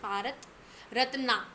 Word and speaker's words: Bharat Ratna: in India that is if you pronounce it like the spelling then you'll definitely be able to get the spelling now so just pronounce it like Bharat ratna okay so here are